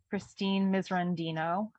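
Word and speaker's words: Christine Miserandino: I believe it's pronounced Christine Misrandino.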